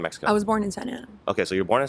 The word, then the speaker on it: Santa Ana: Okay, so then the way you pronounce Santa Ana, I thought you couldn't speak Spanish at all. Really? You know? Yeah. Santana.